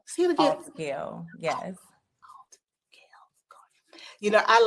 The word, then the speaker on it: Altgeld Gardens: It's Altgale Gardens. Altgale. See it again. Altgale, yes. Altgale Gardens.